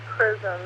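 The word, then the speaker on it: XRISM: NASA's prism missions oh a prism which is x-r-i-s-m pronounced prism it's the X-ray Imaging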